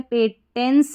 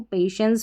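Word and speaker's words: patience: पेटेंस नहीं पढ़ेंगे इसको। पेशेंस पढ़ेंगे।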